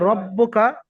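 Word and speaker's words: رَبُّكَ: আর রব্বুকা বাইরের পরে তাসদিদ আছে, আগের হরফের সঙ্গে মিলিয়ে পড়বেন, আর বা নিজের হরফের সঙ্গে একবার উচ্চারণ হবে।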